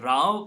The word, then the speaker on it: row: use it this way it rhymes with cow that's what we were